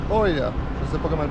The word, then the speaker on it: Oia: Et ensuite de ça, Oia, c'est ça? Ia ou Oia. Ça s'écrit Oia en tout cas.